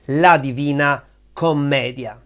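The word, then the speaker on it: La Divina Commedia: Comedia The Divine Comedy it used to be called Comedia with just one m and the accent on another syllable don't worry about that 99% of Italian will call it La Divina Comedia which is divided in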